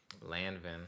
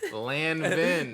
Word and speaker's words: Lanvin: And I was just like, I'm like, bro, these, how you pronounce the name again? Lanvin. Yeah, my fault. Lanvin.